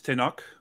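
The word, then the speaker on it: Tenoch: of his language skills how would you uh pronounce uh the lead actor's name who played Neymar um it's tenok and I'm forgetting his last name Huerta yeah yeah to knock okay I I was trying to figure out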